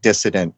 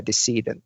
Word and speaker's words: decedent: So just to be clear because it sounds like you're saying dissident. Uh he's he means deedent. Yeah. Sorry. Yeah. Decedent is the way to to pronounce it.